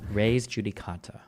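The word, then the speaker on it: res judicata: So make sure to stay pronouncing the first word in English re or raise. So rejudicata or rejudicata raise judicata. Ray judicata.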